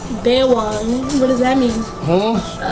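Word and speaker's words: baywang: It's pronounced Bewang. Bewang.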